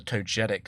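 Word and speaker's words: Togetic: So I saw T O G E T I C and I just thought it was soft G because it was G E.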